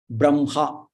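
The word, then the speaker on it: ब्रह्म: These 3, if they come, first you have to pronounce that letter. Brahma. So that ma should be pronounced first.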